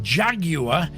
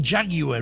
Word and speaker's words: Jaguar: much better classic 1960s jaguar and you know we've been pronouncing jaguar wrong since i was a little boy jaguar apparently jaguar in britain we've always called it a jaguar but a classic 1960